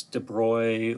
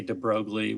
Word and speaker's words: de Broglie: He's French, so it's de Broglie, or however the French might pronounce that. I say de Broglie, which a lot of people do. But he came along and